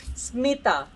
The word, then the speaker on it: Smita: I keep on pronounce her name wrong. She's Smita, right? Yes. Smita, correct? Smita.